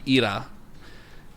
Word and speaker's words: Hera: Except in Greek, so in ancient Greek, it's pronounced Hera or Ira, and Yeah.